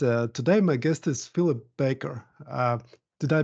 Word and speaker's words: Philip Baker: tax stories and uh today my guest is Philip Baker uh did I pronounce it right philli absolutely right bakeer like